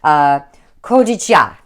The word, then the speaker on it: Cotija: Mexican street corn calls for a Mexican cheese pronounced. Oh, I'm gonna totally slaughter this. Cotija. It sounds like I'm Japanese. Oh my gosh. Cotijia.